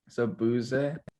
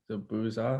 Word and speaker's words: Zabuza: Zabuze. Nope. Zabuza.